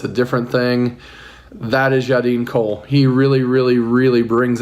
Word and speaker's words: Yadin Kol: All right, welcome to Moonshine and Music, Yadin Kol. Did I pronounce that correct? Yeah, man. Yadin Kol.